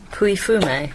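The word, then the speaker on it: Pouilly-Fumé: i l l y f u m e pu fum is the correct answer and remember that champagne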